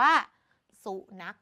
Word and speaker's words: สุนัข: สุนัข นั่น เอง อ่า ขอ ก็ คือ ข ไข่ เป็น ตัว สะกด แต่ ใน การ อ่าน อย่าง ที่ บอก ค่ะ เรา จะ อ่าน ว่า สุนัข แบบ นี้ นี่ เอง โอเค นะ